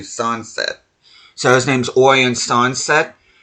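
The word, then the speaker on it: Sancet: It's not Sansé. He has no French lineage about him whatsoever. It sounds like you're saying sunset, but it's actually Sunset.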